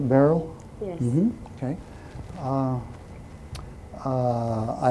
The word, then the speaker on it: Barl: You pronounce it barrel.